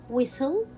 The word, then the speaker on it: whistle: words like listen castle whistle belly soften fasten so in all these words we will not pronounce letter t why it is a